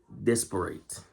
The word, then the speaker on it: disparate: Because depending on whether it's an adjective or verb determines how you pronounce it. Because if it's a verb, it's disparate.